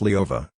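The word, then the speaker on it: Лёва: Pronounced Leova, this was the Russian diminutive of Lev.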